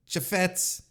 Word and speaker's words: Chaifetz: Louis, Missouri, at the Chaifetz Arena. Chaifetz.